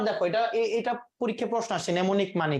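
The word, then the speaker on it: mnemonic: এটাকে ইংরেজি আবার দেখো এটা পরীক্ষায় প্রশ্ন আসে নেমনিক মানে মানে কি নেমোনিক হ্যাঁ এটাকে উচ্চারণটা কি ইংরেজিতে উচ্চারণ হয় নেমোনিক নেমনিক হ্যাঁ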